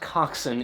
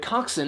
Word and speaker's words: coxswain: to just Coxon and yes it is pronounced Coxon even though it is spelled coxswain and so that word Coxon eventually just became a